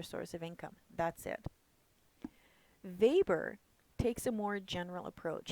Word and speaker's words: Weber: a bit about Labor remember we pronounce the W as a v so when we come to Max Weber he provides a bit